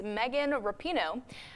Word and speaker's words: Rapinoe: is Megan Rapinoe.